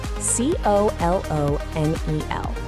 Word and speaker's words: colonel: Yeah, like a kernel of corn.